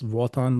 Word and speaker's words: Wotan: It's Wotan, like a V, but with a W.